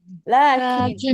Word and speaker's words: لكن: نعم، الألف الموجودة بعد حرف اللام. نحن ننطق بالمد ولكننا نحن لا نكتب تلك الألف.